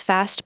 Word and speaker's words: fast: Notice how fast is pronounced with a short a sound similar to the English word past.